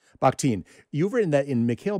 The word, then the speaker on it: Bakhtin: So you've written that in, and I want to see, am I pronouncing, is it Mikhail, is it Bakhtin? Is that correct? Bakhtin.